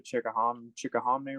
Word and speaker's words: Chickahominy: But that was I really regret that one, because I should have took off and ran to the Chickahominy River.